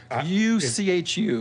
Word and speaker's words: Uchu: UCHU. It's Uchu, is how it's pronounced, but I don't know much about them, actually.